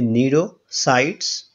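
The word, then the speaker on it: cnidocytes: शव पाए जाते हैं जिसको कहते हैं नीड़ों साइट्स तो यहां पर सी इसमें साइलेंट है तो नेटवर्क साइट्स का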